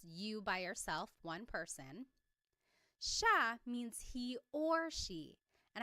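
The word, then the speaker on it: siya: It looks like it should be pronounced sea, but it's actually pronounced sha sha.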